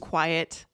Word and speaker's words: quiet: I just need some peace and quiet. All right. So, think about what you heard. So, I heard two syllables, right? Mhm. Um, quiet.